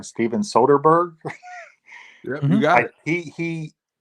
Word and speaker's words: Soderbergh: I don't want to pronounce his name wrong. Steven Soderbergh.